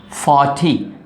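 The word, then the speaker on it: forty: After R, if you have consonants, R is silent. The best example is F-O-R-T-Y. T is consonant, so R is silent. 40, don't say R.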